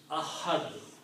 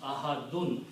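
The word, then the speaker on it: أحد: Likewise, if you stop here, you pronounce Ahad. Don't pronounce Ahadun. So the sound of the last letter is not pronounced.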